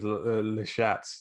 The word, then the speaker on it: Lestat: And he's like, "No, I said I really need Lestat." That's how you say it. Like, you speak French.